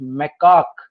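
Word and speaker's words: macaque: इनको बोलते हैं lion tail मैकाक, the pronunciation is मैकाक।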